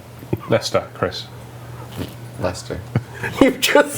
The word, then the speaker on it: Leicester: They have a city here that is genuinely, it's spelt, and without hearing it, you're going to say it how it's spelt. It's spelt like Leicester, like Leicester or something.